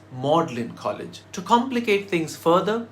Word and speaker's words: Magdalene: So it should be pronounced as Magdalene College, right? Wrong! Apparently in the late Middle Ages, when the colleges were founded, Magdalene was pronounced Magdalene. So it's Magdalene College.